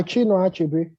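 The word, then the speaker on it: Chinua Achebe: By Chino Achebe. That's how it's pronounced, by the way.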